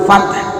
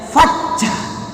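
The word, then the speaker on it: الْفَتْحُ: pertama surah An-Nasr ini ada yang keliru, yang mengucapkannya itu ada yang fathah. Pertanyaannya, ada nggak huruf C di Al-Quran? Tidak. Jadi bukan fathah tapi huruf tak cablak tapi hames. Apa arti hames? Berdesis, ada keluar angin. Ditambah lagi setelah tak ada huruf apa ini? Ha, makin berdesis saja.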